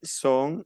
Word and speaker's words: sont: Ils sont. No pronuncio la T final.